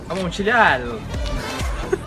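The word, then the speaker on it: Amontillado: Mas já que estamos aqui, que tal falar um pouco sobre o conto O Barril de Amontilhado? Ou, na pronúncia italiana, Amontilhado. O conto foi escrito pelo escritor americano Edgar Allan Poe, um sujeito muito curioso.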